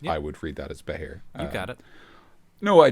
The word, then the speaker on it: Behir: it's a Scottish creature in Scottish it's called a bahir but it's spelled funny because uh us Celts are weird when it comes to spelling we just love our vowels yeah we sure do